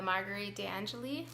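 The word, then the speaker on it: Marguerite de Angeli: book here the door in the wall by Marguerite Anjali that's how you say it and this was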